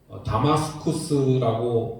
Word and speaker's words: 다마스쿠스: 그런데 사도행전에는 이 다메섹 도상에서 다마스쿠스라고 발음하는 게 더 맞는 발음이긴 하지만 성경에는 다메섹이라고도 표현되어 있죠.